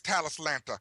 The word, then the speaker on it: Talislanta: so people look it up so it is talislanta I say tantia but I don't know why t t talislanta